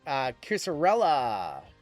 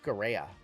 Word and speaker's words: Cucurella: Mark Cusarella. That is going to be numbered 89 of 94. Spain is Andres M in this one. Cucurella.